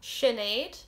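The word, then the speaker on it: Sinéad: sercia some people would say it means freedom shinaid it's apparently the irish form of jane or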